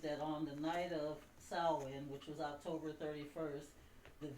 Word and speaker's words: Samhain: start from the pagan roots, the name is Samhain, but it's spelled Samhain. Okay, that's the name of the Celtic festival, Yes. but it's pronounced Samhain.